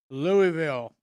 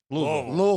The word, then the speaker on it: Louisville: Louisville. How do they say it? Louisville. Louisville. It's like Louisville. one syllable. Louisville. One, yeah.